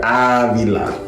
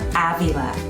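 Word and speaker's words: Ávila: say it correctly too the first syllable of Adela is stressed like it's suffering from stress ah Villa Avila yes try a different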